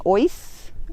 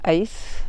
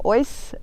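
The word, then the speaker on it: Aus: night we've stayed in oys we got the pronunciation from the locals instead of ace that's probably our south african thing so yeah oyce at the brandenburg rest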